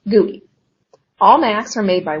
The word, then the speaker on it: GUI: a graphical user interface or GUI pronounced GUI all Mac's are made